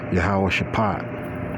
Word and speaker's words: Jehoshaphat: And then they pronounce Jehoshaphat is Yahweh Shaphat. Okay, that's what it's pronounced, Yahweh Shaphat.